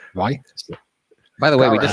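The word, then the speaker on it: Ruislip: Ricelip. So Like say right. garage, you can't pronounce it. Can you say right and can you say slip? Just put them together. Right, slip.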